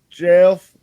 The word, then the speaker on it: Gef: But it's called Jeff the Talking Mongoose. What? It's spelled GEF, but GEF.